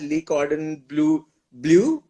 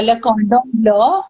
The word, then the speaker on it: Le Cordon Bleu: So, yeah, also, you are extremely trained, and pardon me if my pronunciation goes wrong here. You have been trained at Lee Cordon Bleu, a grand diploma holder from there, and Just several correct you awards. there. It's Yeah, Le Cordon Bleu, and it's a yes,